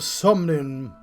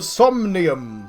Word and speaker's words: Somnium: proxy and welcome to the summoning files how'd you pronounce that john the somnium files there we go ai the summonium files